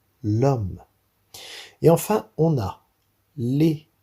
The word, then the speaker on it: homme: Et ensuite, on a l'homme qui a un H muet. Donc, c'est comme si ce H n'existait pas. Et donc, on devra dire l'homme.